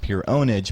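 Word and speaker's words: pwnage: I mean, there's pure ownage is spelled PUREPWNAG, obviously, but it's pronounced pure ownage.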